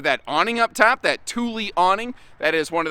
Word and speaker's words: Thule: of uh pronunciations uh most of us look at that here in the states and call it thule but that's thule thule like the uh think like the swedish chef you know what i